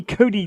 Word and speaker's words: Cote: it right no Amy Cody tonight unless something drastic change my name it's like Katie like you say it like a d but it's a t or at least that's how we pronounce it but here's what I'm